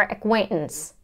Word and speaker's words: acquaintance: a nasal sound so then we have the schwa again and N and an s acquaintance were acquaintances acquaintances acquaintances acquaintances I'm